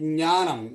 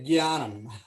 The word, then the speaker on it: jnana: NTR couldn't say jnanam. He used to say gyanam. How mistake it is? It should be jnana.